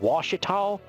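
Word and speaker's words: Ouachita: it called wasal and you will never guess how you spell wasal it's O ye a c h i t UA I think it is UA it's either UA or a but no it does not look like wash at all it looks like o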